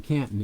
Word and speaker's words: Canton: Actually, if you're from Canton, it's pronounced Canton.